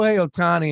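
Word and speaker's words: Ohtani: uh Orioles Twins and ashar wonder what shiao atani is gonna bet on sh sh I'm sorry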